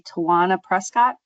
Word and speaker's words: Tawana Prescott: I see Tawana Prescott. That is correct.